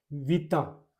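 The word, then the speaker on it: vita: उसके बाद में वी आई से एक और बनाऊं तो सबसे simple we I plus T ओ, टी A sorry, विता, विता, विता बोलते हैं जिंदगी को, जिंदगी को विता।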